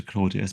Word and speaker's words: Claudius: I sort of anglicized to Claudius, but I think it would be pronounced Claudius in Latin.